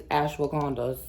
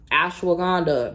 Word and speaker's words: ashwagandha: Get over there and get you some of these ashwagandha gummies, okay? Get over there and ashwagandha.